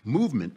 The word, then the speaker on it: MVMT: So Movement, which is spelled for some reason MVMT, all the vowels and other letters are just left out, but it's MVMT. Movement has figured out a